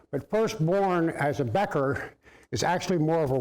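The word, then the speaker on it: bechor: in parentheses here is the word becker that is that the proper pronunciation matt is becker b-e-c-h-o-r becker and that uh that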